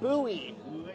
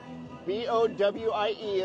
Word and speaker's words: Bowie: So it's pronounced Bowie. Bowie. Bowie, I guess. All right, well, B-O-W-I-E is pronounced Bowie. Well, I think I've heard that before, so we're gonna pronounce it Bowie from now on.